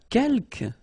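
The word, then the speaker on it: quelques: the second one uh Kel you don't pronounce the final s here Kel means few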